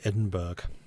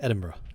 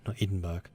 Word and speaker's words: Edinburgh: and a guess cambridge marvelous let's go to Edinburgh yes I know it is not a drug it's just my German friends always pronounced as edinburg which I thought was hilarious